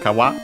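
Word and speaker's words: 川: After that, we have kawa. Uh kawa means river. Should be an accent, but we'll check. Uh yeah, no actually sorry again I was uh uh it's accented on the last syllable sorry on its own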